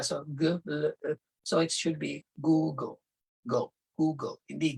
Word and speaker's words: Google: So, so it should be Google. Google, hindi Gel. Because if you say Gel, nilagyan mo ng extra syllable sa gitna, parang GEL, Gel, Google.